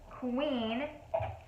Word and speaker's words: Qveen: The mascara, and then the last item I got is called Queen, but it's spelled Q-V-E-E-N, and it is a lip stain.